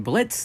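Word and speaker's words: Blitzø: Oh, that slimy little While being left to rot in prison, Moxie ends up meeting Blitz, the O is silent, and as such, Moxie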